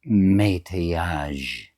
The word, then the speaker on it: métayage: Meta would be the right way. And yaj. It's not fudge.